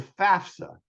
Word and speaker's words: FAFSA: The FAFSA, pronounced just like it looks, and it stands for the Free Application for Federal Student Aid.